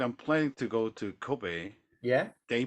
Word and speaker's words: Kobe: another famous one we love our meat Boys Kobe the famous Kobe beef yeah uh it is